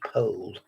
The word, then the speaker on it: Powell: netley Abbey watercolor by antiquarian TD Powell from my distant memory sometimes pronounced Pole this is Circa 1802